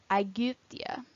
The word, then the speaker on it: Aegyptia: Y is pronounced like the French U, Aegyptia.